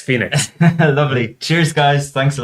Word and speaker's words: FENIX: It's spelled FENIX, Phoenix.